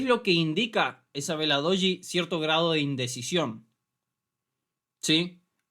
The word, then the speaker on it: doji: Esto es una vela doji. Se escribe de esta forma.